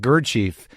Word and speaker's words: Gurdjieff: What was you sort of riff a little bit about Gurdjieff? Is that how you pronounce his name?